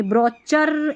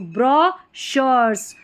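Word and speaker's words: brochures: इसको क्या पढ़ देंगे बी आर ओ ब्रो पढ़ देंगे फिर सी एच को च पढ़ देंगे नहीं ये गलत पढ़ेंगे तो इसको पढ़ेंगे ब्रचर ऐसे करके पढ़ेंगे नहीं इसको क्या पढ़ना है ब्र सी एच है ना इसको श पढ़ा जा रहा है इस स्पेलिंग में तो ब्रशर्स ब्रॉशर्स ब्रॉशर्स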